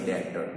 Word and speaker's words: debtor: B is silent here, so don't use the word debtor, it is debtor.